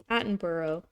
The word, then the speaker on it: Attenborough: Attenborough.